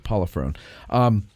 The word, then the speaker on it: Polifrone: So it's Polifrone. She said just the way it's spelled. So there it is, Polifrone.